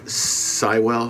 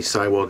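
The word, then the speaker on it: Seiwell: brought in a drummer danny cywell i believe is how you pronounce it danny cywall daddy seawell who ends up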